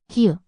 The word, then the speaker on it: 히읗: 히읗, 히읗, 흐, 흐. Similar to h and hat. It's a soft, breathy sound and can slightly change the pronunciation of the following vowel.